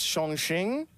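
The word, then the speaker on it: Chongqing: of CTE for that Chong King uh or pronounce Shong Shing um you will get corrected either way so just give up it's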